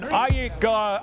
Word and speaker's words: Aykroyd: Chevy Chase, Gilda Radner, Dan Aykroyd. How the fuck do you pronounce this?